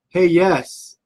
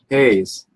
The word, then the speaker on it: Hayes: but if I did anything not hey yes Hayes why don't you just spell it like that damn I got to